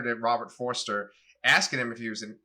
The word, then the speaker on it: Forster: forster and you know robert forster that's how you say his name this is his last foster it's forester robert forster he this is his